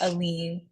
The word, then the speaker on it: Aline: Brisbane Sedwick and Aline am I pronouncing that right Aline Aline or alen alen is alen yeah yeah okay just double checking alen it is alen um Troy has accumulated